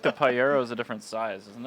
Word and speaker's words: Pajero: I feel like the Pyero is a different size, isn't it? Well, it is actually it is just the Pyero, but American. Pyero, but Pyero, I believe. Pajero. Pyero. I think it actually Pajero is is wrong.